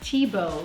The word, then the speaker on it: Thiebaud: But it's spelled t h i e b a u d because the French don't say the ending of the word if it's consonant and often they make t h sound like just a t.